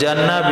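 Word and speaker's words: جَنَّ: Kalau janna bina makruh maknanya datang kegelapan malam.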